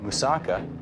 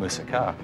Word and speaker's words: moussaka: Well, you know, there's two different ways that people say moussaka and moussaka.